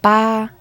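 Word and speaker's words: 八: Ba, I want loads of luck. Flat tone again. I just thought of another one for 8 while trying to learn 9. So the Western Arabic, whatever it is, 8, kind of looks like a bag of money, which is ba.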